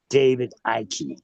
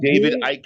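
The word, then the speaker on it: Icke: You So your name is not David Ike. His name is David Ike. What is wrong with you? E is silent, man.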